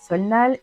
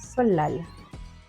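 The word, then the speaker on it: 설날: À votre avis, comment se prononce ce mot? Eh bien, si vous avez dit solnal, eh bien, ce n'est pas du tout ça. En fait, ça se prononce solal.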